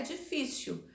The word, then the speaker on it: difícil: A única que tem aqui é difícil, tá? E a sílaba tônica é fi.